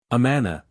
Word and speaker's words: Amana: Amana, 1874. The name we took out of the Bible, said one of the officers of the society to me. They put the accent on the first syllable.